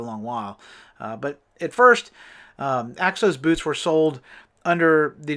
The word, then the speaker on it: AXO: I act in fact I thought EXO was a EXO I always said it like that in fact you know back in the old days we didn't see people on TV saying the name pronouncing you're just reading it in a magazine so I thought you call the letters out as the initials I didn't know it was access port for quite a long